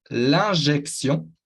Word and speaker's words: injection: La inyección, cuidado con la T, que no se va a pronunciar como una T, sino como una S. La inyección, una S de serpiente, la inyección.